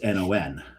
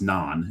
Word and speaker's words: non: Like it's no in French is N-O-N. Mm-hmm. It's not pronounced non. It's non. No. And there's that N sort of at the end is kind of implied.